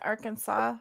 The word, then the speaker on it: Arkansas: Arkansas, and actually He's the from state is Central pronounced Arkansas.